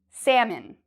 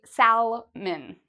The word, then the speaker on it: salmon: This word, a lot of people mispronounce. It's a type of fish that people like to eat. Salmon. A lot of students want to say salmon. I like salmon. Don't worry about the L. It's silent.